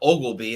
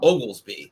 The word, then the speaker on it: Oglesby: So I was saying it correctly, but he was saying a lot of people miss the S and call him Ogleby. And it's not Ogleby, it's Oglesby. There's an S in there.